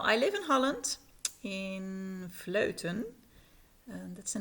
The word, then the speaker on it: Vleuten: But where I live is called Vleuten. It's hard to pronounce that in English.